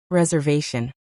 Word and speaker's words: reservation: Think reservation, itinerary, passport, and customs. Great picks. Reservation is pronounced /res.arve.n/ with the stress on the third syllable.